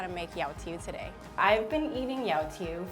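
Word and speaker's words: 油條: The way you pronounce it in Cantonese is yao tiu, or there's another way of saying it where it's like yao za guai.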